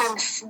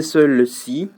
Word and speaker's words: celle-ci: celle-ci. Ou c'est texte, oui. Tu prononces encore celle-ci? Celle-ci. Et tu disais seul-ci. Malheureusement, tu prononçais mal le muet. Le muet, il se prononce pas. Il faut les sauter.